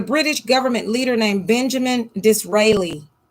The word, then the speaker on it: Disraeli: there was a british government leader named benjamin disraeli d like door i s like sock r-a-e-l-i dis-rely or disraeli or whichever thing is silent um